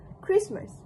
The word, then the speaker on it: Christmas: When spoken by our participant, the word was also pronounced pronounced as Christmas which match the word which matches the Oxford IPA exactly.